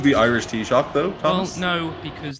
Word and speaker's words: Taoiseach: Is it Taoiseach, not Taoiseach? Taoiseach, yeah. You gotta admit though, it was close. Considering I've never heard it. Can you name the Irish Taoiseach though, Thomas?